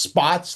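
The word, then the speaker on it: Spaatz: are um Half Arnold and this man Carl Spots, right? Which it's pronounced Spots like Spot Ts.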